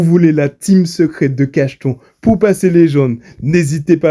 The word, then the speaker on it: Cachton: Et pas Cacheton pour ceux qui pensent que c'est Cacheton, non. C'est Cacheton, faut bien prononcer. Il faut penser à un petit cachet au cas où.